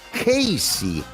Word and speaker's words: Casey: Casey, pero se pronuncia Casey. Por tanto, se pronuncia igual que K-C.